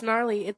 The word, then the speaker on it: gnarly: It's gnarly. The G is silent.